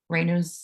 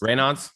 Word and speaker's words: Raynaud's: How do you pronounce it? Raynaud's Raynaud's. Raynaud's?